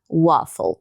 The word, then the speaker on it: waffle: Então, por isso que depois desses dois fs eu não posso fazer um e, lembra da regra? Então não pode de tom consoante dupla. Então em vez de way a gente vai falar waffle, tá?